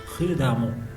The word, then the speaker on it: prudemment: Le E avec deux M comme l'exemple ديال l'adverbe نا prudemment هاي E deux M كتنطق ا prudemment ماشي prudemment prudemment.